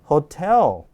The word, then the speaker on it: hotel: 자, 근데 숙박시설인 호텔은 어떻게 읽어요? 예, 그냥 우리 발음하는 게 맞습니다. 호텔이에요. 따라서 hotel, hotel 뒤로 올려있게 돼 있어요.